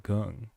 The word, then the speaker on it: Kong: And Jay said that Kong is actually pronounced gung or something closer to than Kong.